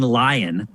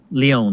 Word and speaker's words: Lyon: It's coming from Arcane, but it's coming from Arcane Lion, which is Lyon, right? Yeah, I did mispronounce that.